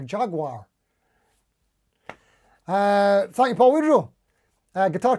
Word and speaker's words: Jaguar: Bill Mumbo, oh, it's pronounced Jaguar. I had no idea. I always thought it was Jaguar or Jaguar.